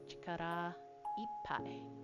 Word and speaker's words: 力いっぱい: So it's pronounced separately too. Yeah, so when you told me it's 2 separate words, so it's chikara and ippai. And it does if I put a chikara ippai.